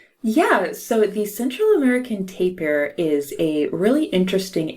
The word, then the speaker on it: tapir: I always called it to Pier but maybe we you use both terms today yeah I think that the official pronunciation is taper rhyming with paper but I have heard